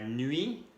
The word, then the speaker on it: nuit: La nuit, noche, que no se pronuncia la T.